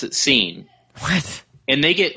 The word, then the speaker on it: Sean: two people in real life that pronounce it seene. What? And they get like overly upset if you say Shawn. Wait, they're they spell it Shawn and they pronounce it scene and that's their name.